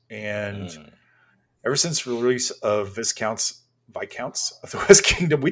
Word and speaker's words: Viscounts: And ever since release of Viscounts of the West Kingdom, we talked about this on one episode.